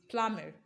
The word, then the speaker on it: plumber: not existing at all option b is pronounced as plummer plummer you are going to throw away that letter b you see there again because it has new function there it says it is not pronounced it is um it